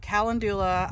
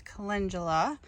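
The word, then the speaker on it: calendula: my what I called in the last video kalandula I have since realized that I was mispronouncing it it is Cula and I have this whole big patch here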